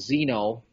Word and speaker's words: xeno: with what are called Zeno xen o pronounced Zeno estrogens and Zeno means um